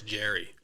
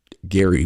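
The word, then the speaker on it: Gerry: a Gary maybe that's Jerry usually it is but his is pronounced Gary but it's spelled with the G g-e-r-r-y which I had never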